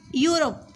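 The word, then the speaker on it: Europe: यूरोप, यूरोप में भी start तो ई से हो रहा है, पर उसका जो प्रोनाउंसिएशन है, उच्चारण है, वो या शब्द है, इसलिए हम इसमें ए लगाएंगे।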